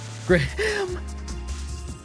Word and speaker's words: Graham: Graham? No way. It's graham. Graham cracker. Gray ham. Ham.